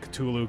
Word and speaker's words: Cthulhu: of cthulhu is like even the name cthulhu that's just how you say it but it's actually a word that human beings aren't supposed to be able to say basically right uh so you can say tulu cthulhu right but then this guy